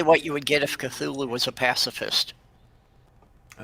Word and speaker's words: Cthulhu: things certain ways but it is Cthulhu it is not katulu it is a th sound oh okay that's official